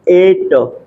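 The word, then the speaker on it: eight: जी एच टी आया इसको क्या पढ़ेंगे आप एट एट देखिए य पे ए ट यहां प जी एच हमारा क्या है साइलेंट है देख लीजिए मैं क्या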